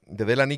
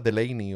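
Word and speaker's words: Delaney: pero bueno hablábamos de delany que He descubierto que se llama the Lane o algo así se pronuncia pero claro como yo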